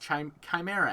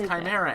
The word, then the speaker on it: Chimera: it was like oh this is they're just Chimera ants I said it right you did I did they're just Chimera ants oh God ads are almost kind of